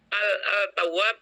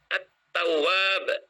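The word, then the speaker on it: التواب: Misalnya, al-tawwab, bacanya at-tawwab. Lamnya hilang.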